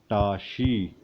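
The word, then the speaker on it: བཀྲ་ཤིས: फिर शा के ऊपर ई की मात्रा, जिसे हम गीगू बोलते हैं, शा गीगू शी, और सा यहाँ पे प्रोनाउंस नहीं होता है। तो ये टोटल मिला के टा ये है, शी ये है, तो बना टाशी।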